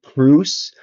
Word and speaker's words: Proust: It's actually pronounced Proust, but I always pronounced it Proust. I think you could probably pronounce it either or.